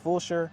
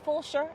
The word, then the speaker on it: Fulshear: should move out here to Jordan Ranch and Fulshear, Yeah.